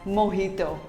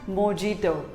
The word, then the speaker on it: mojito: it is pronounced as mohito not mojito simply say mohito the j is pronounced as h to what do you